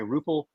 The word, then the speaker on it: Ruppel: As I always say, Ruppel has scruples. That's how you know how to pronounce his name, by the way.